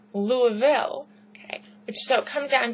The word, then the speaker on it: Louisville: is in Kentucky, we always call it like Louisville. People will say Illinois. Okay, I don't know if that might be a northern thing to do, but that's not how they're pronounced. It's Illinois. It's Louisville, okay?